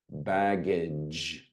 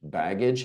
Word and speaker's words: baggage: Or the soft G, J, J, baggage. Baggage has 2. Bag, hard, J, soft.